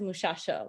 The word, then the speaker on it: muchacho: in Panamanian Spanish is the substitution sometimes of the sh for words containing a ch. So for example, a word like a muchacho among the can also be pronounced as muchacho with the sh sound.